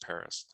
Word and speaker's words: Perez: and it's it's pronounced paris it's spelled perez p-e-r-e-z but it's pronounced paris uh like the city um his family has been in santa cruz since 1796.